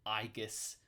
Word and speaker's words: Aegis: She's got her classic Aegis shield, Aegis, if you want to be a real stickler for ancient Greek pronunciation.